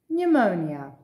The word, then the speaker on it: pneumonia: psychiatry psychiatrist psycho psychotic pneumonia now you may wonder why on earth would they put a silent p when we don't pronounce it at all there's a very clear